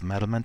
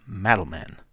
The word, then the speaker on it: Madelman: Join us as we reveal the history of Madelman 2050, discuss its lore, and review these fun action figures and some of their vehicles from the Broca Beach Club's vault. Let's start with pronunciation. It's Madelman, not Madelman.